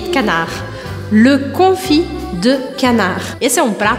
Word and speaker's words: canard: E eu não falo canard, mas canard, le confit de canard.